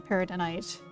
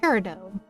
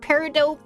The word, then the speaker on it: peridot: time I got to play it was mostly paradonite. Paradonite? Because yeah, it's pronounced peridot.